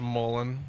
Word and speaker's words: Mullen: it's pronounced Mullen, and Mullen will be your leader, but only second, Bell third.